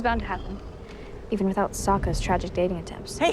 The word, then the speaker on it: Sokka: My name's Sokka. Rhymes with Aka and Waka Waka.